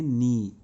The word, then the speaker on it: knee: KNEE, इसमें के silent होता है, तो इसको क्या पढ़ेंगे, नी। इसको क्या पढ़ेंगे, नी। ये पढ़ेंगे इसको नी।